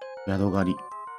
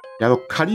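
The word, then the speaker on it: ヤドカリ: ヤドガリ。ヤドカリなんだ。ガリではなくて。ずっとガリって読んでた。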